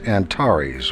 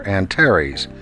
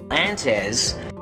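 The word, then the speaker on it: Antares: mistakes like this one the word is pronounced antaris or anares not anes anyone who's even moderately educated in space science should know that and no you can't claim that it's an Australian pronunciation and one final point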